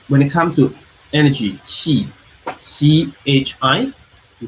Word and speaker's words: qi: But when it comes to energy, qi, C-H-I, we call qi, or Q-I. It's two different pronunciation. One pronunciation, but two different pinyin, C-H-I, qi, or Q-I, qi. So those two represent qi.